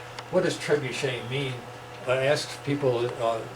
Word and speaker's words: Trebuchet: Last screen is the pronunciation up in the upper right hand there, Trebuchet. What does Trebuchet mean?